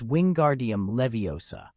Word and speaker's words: wingardium leviosa: It's wingardium leviosa. You have to stress the gar and draw out the last syllable.